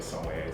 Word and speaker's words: sommelier: I studied, to be a sommelier, so.